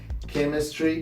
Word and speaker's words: chemistry: Sometimes CH it is pronounced like K. For example, mechanic, chemistry, chemical, and chaos.